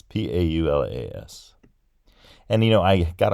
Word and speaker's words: Paulas: programming can look at my name and see P-a-u-l-a-s and say that's Paulas and pronounce it exactly the same way I pronounce